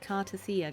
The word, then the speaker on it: Cartethyia: This is how you pronounce it, Cartethyia, guys, If she not was indeed Cartethyia.